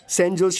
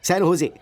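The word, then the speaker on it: San Jose: का बेटा अभी रिसेंटली सैन जोस शिफ्ट हुआ है। Oh sorry sorry sorry sorry sorry, सैन होजे, SANJOSC। इसकी स्पेलिंग यही है ना, लेकिन इसमें जे साइलेंट रहता है, इसलिए इसे सैन होजे बोलते हैं।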